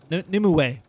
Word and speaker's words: Nimue: Maybe if I listened to them and figured out how to pronounce their names. Nimue? Nimue? Oh, Nimue.